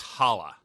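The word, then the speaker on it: challah: One person has their bread replaced with burnt chala bread and one with bread crust. I think it's pronounced hala.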